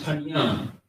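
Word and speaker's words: פָּנִים: So the word is panyam, panyam. That's how you say it.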